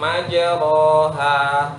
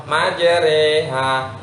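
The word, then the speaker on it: مجريها: salah, itu ada kata tulisan di dalam Al-Quran, tulisannya majroha. Pernah dengar? Pernah dengar? Harusnya bacanya bagaimana? Majreha. Salah satu bacaan yang boleh miring hanya di surat itu, majre, jadi re. Selain itu tidak boleh miring.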